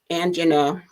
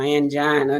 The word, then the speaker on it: angina: to consider it now there is something called angina or angina depending on how you want to pronounce it that occurs when the